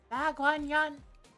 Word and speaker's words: 대관원: Dagwanyan. Okay, so you do say it like Dagwanyan. I guess the pronunciation changes in context.